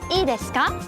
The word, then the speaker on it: いいですか: you're pushing the shutter button down and ask, いいですか?